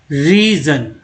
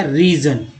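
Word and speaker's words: reason: रीज़न, एस को जा बोला गया, रीज़न।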